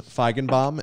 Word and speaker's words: Feigenbaum: guys and uh i should say dr jordan feigenbaum am i saying your last name correctly or am i mispronouncing it no i think you crushed it